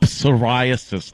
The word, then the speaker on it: psoriasis: something maybe they got psoriasis they got psorasis yeah pisas why do they spell that word with a p we need a p but it's silent yeah but it's it's